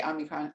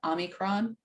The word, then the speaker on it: omicron: who have gotten um uh how you say omnicron omicron i'm that i'm from omnicron i'm not sure